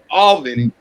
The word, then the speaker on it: Albany: That's how it's pronounced, Mike. Albany.